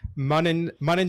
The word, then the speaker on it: Manan: Manan Shah, how are you doing? Manan like running, as I'm told.